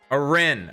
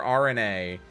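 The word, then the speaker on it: Arene: Arin. Arin. I always say I always say Arena or RNA, but his name is supposed to be pronounced Aren.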